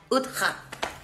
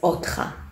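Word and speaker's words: אותך: Ani rotza lanashek utcha. That means... Okay, so it's not utcha. You said it right, but at the end it's otcha.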